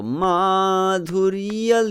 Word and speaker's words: madhurya: So madhurya lila, I did more stress on that dhurya, okay, which still make it sound like tan tan ta tan tan, madhurya lila.